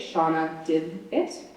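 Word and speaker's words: Shanawdithit: That's how you say it, Shauna Did It.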